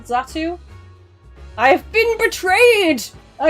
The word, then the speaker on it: Xatu: The letter X sounds like the letter Z. I need to chase down the person that told me that Pokemon's name is pronounced Natu. And you're saying it's pronounced Xatu?